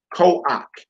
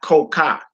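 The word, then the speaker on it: כֹּחַ: That says koach. Koach. Because the minus vowel is underneath the ket, and the ket is at the end of the word. So that's koach and not koka.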